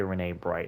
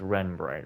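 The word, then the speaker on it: Renne Bright: know how I think I think it's just Ren if I remember correctly you don't say Rene bright it's Ren bright right someone say her name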